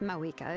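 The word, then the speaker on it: Mavuika: Yes, Mawika is our leader, but that doesn't mean there's any kind of tall barrier between us and her. So that's how it's pronounced. The V is pronounced as a W.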